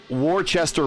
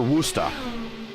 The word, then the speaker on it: Worcester: It's not Hobart, but it can't be any worse than calling Worcester Worcester. In Massachusetts. Yeah, that'd be awful.